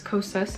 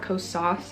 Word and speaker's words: Kosas: So thank you so much to whoever told me I've been pronouncing Kosas wrong. It's Kosas, not Kosas. I've been saying Kosas.